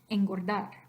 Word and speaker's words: engordar: Natural speech, engordar, engordar. So that N, you're actually pronouncing as if it were an ng, like an ing sound.